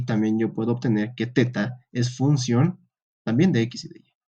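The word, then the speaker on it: theta: función de y bueno para los que me dicen que no es teta es tita no ve vamos si quieren pueden buscar el alfabeto griego no se pronuncia Pita se pronuncia teta es que no nos falta uno que son mal pensado ha dicho teta De hecho no no se pronuncia tita en el alfabeto griego no hay tita ya he buscado a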